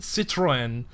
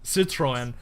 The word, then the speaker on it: Citroën: If you're wearing like a Celta Vigo jersey, you have the giant Citroen if I think that's how that's pronounced, the cars are not here. So the car maker, Citroën, across your chest.